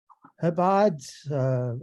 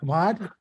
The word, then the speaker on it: Chabad: Shabbat, Chabad, I can't pronounce it.